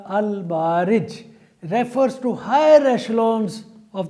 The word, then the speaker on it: Al-Ma'arij: Whereas Surah Al-Ma'arij, pardon, I have pronounced this surah's name in the previous context as well wrongly. The correct pronunciation is Surah Al-Ma'arij, refers to higher echelons of the space or universe.